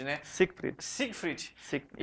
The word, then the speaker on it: Siegfried: Ô Zico, eu estava falando com você aqui, é Siegfried, né? Siegfried. Siegfried. Siegfried. E pela dificuldade da pronúncia que surgiu o Zico, não é não?